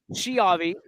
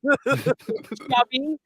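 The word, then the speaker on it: Schiavi: I tell people, think of school. You don't say shul, you say school because the SCH.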